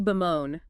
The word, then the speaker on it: bemoan: Third verb, to bemoan. B-E-M-O-A-N. Pronunciation. Bemoan. Stress on the second syllable, moan. 2 syllables.